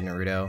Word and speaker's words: Naruto: Yeah, I'm one of those people who emphasize the first syllable. So I say Natsuki and I say Naruto and I say Madoka.